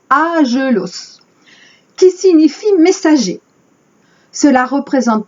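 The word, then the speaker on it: ἄγγελος: Le mot ange vient du grec agélos. Alors évidemment, j'ai pas fait de grec. Donc, les puristes vont me dire que je prononce mal. Ça s'écrit A-G-G-E-L-O-S. Et en prononçant à la française, agélos, qui signifie messager.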